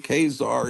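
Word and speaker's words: Ka-Zar: Kazar cover because I I'm not going to call him kesar even though that is I guess the real pronunciation because because I've called him Kazar since 1972 And I'm not going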